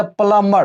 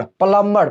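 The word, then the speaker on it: plumber: प्लंबर यहां पर भी नहीं होगा इसको बोलेगा प्लंबर प्लंबर प्लंबर प्लंबर बोलेंगे ठीक है तो जब भी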